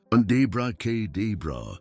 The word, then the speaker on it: abracadabra: The correct pronunciation stretches each vowel, abracadabra, exhaling gently as you say it.